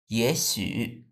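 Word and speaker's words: 也许: তারপর 5 নাম্বার, 也许也许 আমাদের এখানে দুইটাই থার্ড টোন আছে, কিন্তু প্রথমটা আমরা কি বানিয়ে ফেলবো? সেকেন্ড টোন বানিয়ে ফেলবো। তখন উচ্চারণ হবে 也许 মানে হয়তো, মেবি।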